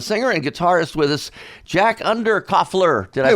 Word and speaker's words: Jack Underkofler: and uh the singer and guitarist with us jack under coffler did i pronounce it right yes you did yeah you